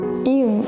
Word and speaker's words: 이응: 이응 is silent, but if it's used at the final position, sounds like ng.